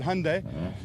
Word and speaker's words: Hyundai: Interesting fact um Hyundai they and it's pronounced just like Sunday but Hyundai they actually all from Hyundai South Africa.